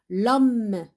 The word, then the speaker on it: homme: L'homme, L-O, l'homme, donc le H, on ne le prononce pas.